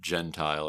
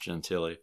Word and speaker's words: Gentile: with them guy named Nick Gentile or Nick genti not sure exactly how he pronounced it it's spelled Gentile but I think it might be pronounced gentiy they would drive these